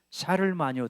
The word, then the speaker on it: 샤를마뉴: 샤를 마유라 하는 사람입니다 찰스 대제 하고 브러시 발음으로 샤를마뉴 대제 하는데 프랑크 왕국을 세운 사람이 샤를마뉴 샤를마뉴가 기독교적인 여러 가지